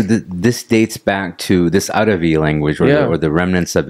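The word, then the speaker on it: Arvi: the companions came up it's called aravi a-r-v-i okay because Tamil people couldn't pronounce Arabi they kept saying because they didn't have a bat yeah right and that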